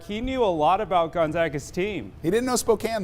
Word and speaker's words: Gonzaga: somebody how to pronounce gonzaga we spoke with gonzaga's president yesterday and he said just think about it they zig we zag okay that's it it's easy but nobody zogs less than complete it